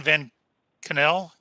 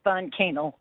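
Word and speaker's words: von Kaenel: no judge thank you commissioner um is jane van cannell or kennel there now pardon me can you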